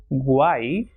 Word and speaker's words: guay: And when it comes at the end of a word or when it comes alone, it will pronounce as e, like rei, lei, guay, delante y detrás.